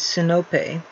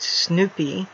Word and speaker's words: Sinope: I say, the classical Greek pronunciation is Sinope. He says it's pronounced Snoopy, which it obviously is not.